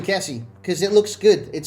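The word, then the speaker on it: Kessié: I believe it's pronounced Kessie, but because of the accent on the E, but I like saying Kessie because it looks good.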